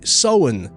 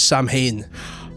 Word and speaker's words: Samhain: Bill O'Hurley, Irish man himself, he actually pronounces Samhain the correct way, Samhain. Does he? Which he does, yeah. So he's correcting the record because Dr. Loomis in the original Halloween and the sequel, he says Samhain.